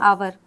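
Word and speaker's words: hour: तो यहां पे भी एस साइलेंट होता है। इसको क्या पढ़ते हैं? आवर।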